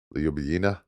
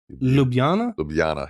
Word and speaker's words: Ljubljana: Ljubljana. Ljubljana, yeah.